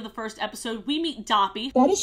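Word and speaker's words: Doppy: very end of the first episode we meet Dobby what is spelled d-o-pp is silent but felt as you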